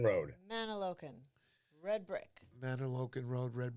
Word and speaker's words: Mantoloking: Mantoloking Road. Mantoloking.